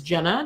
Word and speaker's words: Jena: And it is Jena, not Gina, right?